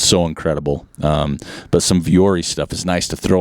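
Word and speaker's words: Vuori: brand not for new but for me um fiori and I'm hope I'm saying it right it's v r i it's been around I have it um it's viori they're Ponto pants and they Strat Tech shirt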